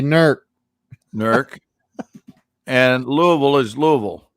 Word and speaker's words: Newark: it lancaster lancaster and and newark hears they say nerc and louisville is louisville